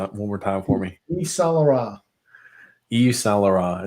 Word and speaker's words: Yves Saint-Laurent: Grump, I'm gonna need you to pronounce this one more time for me. Yves Saint-Laurent.